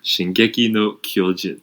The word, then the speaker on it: Shingeki no Kyojin: And J-Wang, can you pronounce it for me? Because I don't really know what I'm saying. Shingeki no Kyojin.